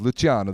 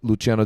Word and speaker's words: Luciano: We've been having people argue about the pronunciation of Luciano this week, and I asked Luciano Vicentin. He said that technically it's Luciano in Spanish, but he prefers Luciano because it sounds cool, and I agree.